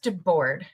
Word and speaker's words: Debord: Um, so Chris Chris now it is pronounced de board correct.